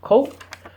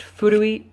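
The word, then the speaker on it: 古: So it's pronounced ko, or if you make it an adjective by adding a little hiragana at the end, it's pronounced furui, which means old, but like not like a person.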